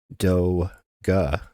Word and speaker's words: DOGE: Therefore, you say the Department of Government Efficiency implies that the acronym should be also pronounced Do-Ga. And yet, everybody in the mainstream media, everybody in the government is referring to it by an incorrect pronunciation.